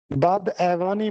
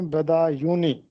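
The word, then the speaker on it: فانی بدایونی: کہ فانی بدا یونی، یہ اکثر اس کو بد ایوانی پڑھتے ہیں جبکہ درست تلفظ ہے فانی بدا یونی. اس کو بد ایوانی نہیں پڑھنا بلکہ بدا یونی پڑھنا ہے، فانی بدا یونی.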